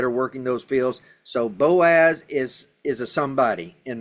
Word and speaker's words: Boaz: But Boaz is one of those words that that we are pronouncing as they would have pronounced it.